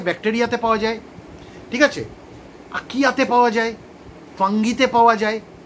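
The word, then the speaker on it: archaea: আর থাকে হচ্ছে আকিয়াতে থাকে, আকিয়া। আকিয়া দেখ, উচ্চারণ আমি যদিও আকিয়া বলছি, স্পেলিংটা জেনে রাখ, এ আর সি এইচ এ ই এ, এর উচ্চারণে আকিয়া।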